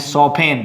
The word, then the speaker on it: soften: And soften, here is T silent, and watch, here is T silent.